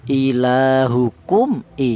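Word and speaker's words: إِلَٰهُكُمْ إِلَٰهٌ: Mem mati ini cara bacanya dibaca jelas, ya. Ilahukum i, seperti itu, ya.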